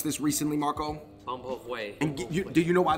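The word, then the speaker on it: bún bò Huế: I know you just learned to pronounce this recently, Marco. Bun bo huay.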